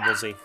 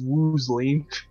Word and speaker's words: Woolsey: I somehow read it as Woosley. I don't know how my mind switched the L and the S.